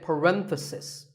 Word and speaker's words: parenthesis: about just one bracket you say parenthesis the stress is on Ren if you're talking about